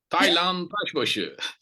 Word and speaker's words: Taylan: to us live from vodam and I totally butchered your name like say it the right way Thailand Okay so Thailand and I have been friends